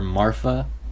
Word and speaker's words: Marfa: Marfa, the second oldest, who I just now learned her name is spelled with an F. I always thought Jacob had a lisp or something when he would call her Marfa. I thought her name was Martha with a TH, but no, it's Marfa.